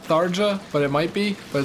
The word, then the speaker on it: Tharja: Tharya. Yeah, see? I didn't even know J could be pronounced like a Y, but I mean, in ye...